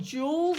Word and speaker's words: joules: is a unit called joules it sounds like a diamond ring but it's spelled different